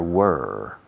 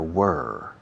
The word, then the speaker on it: were: There were several problems yesterday. Pronunciación. There were. Rima con quemar. Burn. Were.